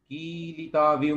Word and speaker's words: कीलिताविव: जैसे जी कीलिताविव में जो है ना, आपने की को छोटा और ली को बड़ा कर दिया था, है ना।